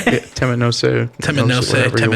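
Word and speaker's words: Temet Nosce: Temet Noshe. Don't fuck it up. Am I saying it right? Yeah, Temet Noshe.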